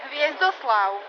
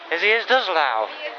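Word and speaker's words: Hviezdoslav: Hviezdovslav. Hviezdovslav.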